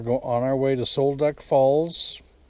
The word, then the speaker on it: Sol Duc: go to the falls and I guess you pronounce it Soul duck anyway we're going on our way to Sol duck Falls it's an eighth of a mile ah